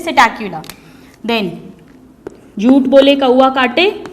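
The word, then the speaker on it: Psittacula: यहाँ पे जो सिटैक्युला की स्पेलिंग है स्टूडेंट्स, इसमें पी साइलेंट है, इसे हम प्रोनाउंस करते हैं सिटैक्युला।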